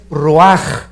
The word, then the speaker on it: ruach: hebreo es j nepe y la palabra espíritu es raj se escribe ruach entonces vemos aquí dos